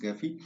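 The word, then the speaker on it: Gephi: ये गैफी जो है, कुछ लोग इसे, आप अगर वीडियोस देखेंगे इंटरनेट पे तो कुछ लोग इसे जैफी भी कहते हैं, मतलब most of the time it is pronounced गैफी।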